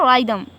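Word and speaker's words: rhythm: हाँ एग्जाम्पल देखें, यहाँ पे क्या है राइदम तो इसमें H जो है वो क्या रहेगा साइलेंट रहेगा, H की आवाज़ नहीं आनी है।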